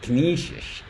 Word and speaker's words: Canisius: Last time I said it, because someone told me that it's pronounced Canisius. And it's like, so I